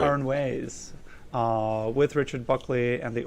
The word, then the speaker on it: Aranjuez: Aranjuez, with Richard Buckley and the Oakland Symphony Orchestra, who has performed in Europe, South America, and the Caribbean.